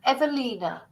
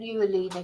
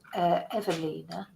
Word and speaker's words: Ewelina: the coroner for umina evina keep saying uina because it's a w but it's pronounced a v said evina let's just go on